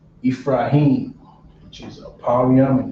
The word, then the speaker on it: Ephraim: In Creole, this is spelled different. The PH is an F in Creole. You're not gonna find PH in Creole. You're gonna find F.